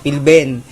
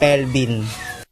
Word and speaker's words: Pilben: Hindi niya mabanggit yung pangalan ko na pagpapalit niya yung I at saka E sa pangalan ko. So, ang dapat na bigkas sa pangalan ko is Pilben. Pero tinatawag niya akong Pelvin.